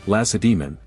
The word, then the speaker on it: Lacedaemon: and their state was Lacedaemon, named after their city, a name, incidentally, that even experienced historians often mispronounce, placing the accent on the final syllable.